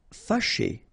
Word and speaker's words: fâché: Fâché, remember, C and H together, sh, and then et, ché, fâché.